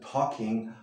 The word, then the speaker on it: talking: La L no la pronunciamos. She wasn't talking much.